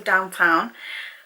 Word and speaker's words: DWTN: is by the brand downtown paris but obviously it's spelled dwtn so downtown this is full size